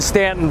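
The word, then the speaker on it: Staunton: at the new market campaign I'm now in Stanton Virginia um I was informed earlier by a local president that the correct pronunciation is Stanton not Stanton as it's spelled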